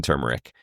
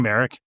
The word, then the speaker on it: turmeric: It's called um nature's path golden turmeric. It is Yep. I don't know. Listen, tumeric.